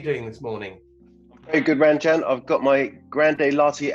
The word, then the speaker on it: Ranjan: My name is meant to be pronounced, although it's spelled Ranjan, it's meant to be pronounced Ranjan.